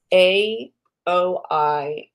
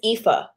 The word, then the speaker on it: Aoife: You spell it AOIFE, and you're like, how do you say that? It's Aoife.